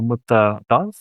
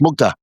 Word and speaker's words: Mukta: uh I hope I pronounce it right Dr. Mut. Um yes, Mukta.